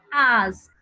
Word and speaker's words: asked: Esos sonidos que no vibran, entonces la ED suena como T. Entonces yo digo ask, asked.